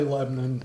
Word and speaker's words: Lebanon: I need to go how do you say it Lebon or Lebanon Lebon I say Lebon but I'm born and raised here so so he's the you